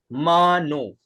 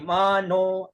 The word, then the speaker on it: मानो: लगा हुआ है, मानो, तो मानो का उच्चारण कैसे होगा, म ऊपर और नो बीच में, वही जैसे हरि के अंदर था वैसे मानो, नो के ऊपर आ रहा है, ठीक है ना,